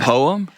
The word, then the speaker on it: poem: A poem? Poem? A poem? It's 2 syllables.